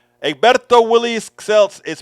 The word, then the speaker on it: Celts: Celts is not Celts, it's Celts. Even though they do call it the Celtics, not the Celtics.